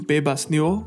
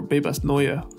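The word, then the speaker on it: Bebas Neue: off with some text I'm using Babas noo as a font right now or Babas Noya sorry got to get the pronunciation right um I've just tighten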